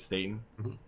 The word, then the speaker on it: Staten: that means going on right now but joseph stayton i pronounced that right right staten yeah coming back to halo to help finish